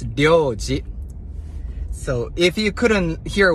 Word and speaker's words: Ryo: And Ryo is one of the most difficult words to pronounce. So, let's say this is tongue. And L, your tongue goes like this. D, Ryo, Ryo, R.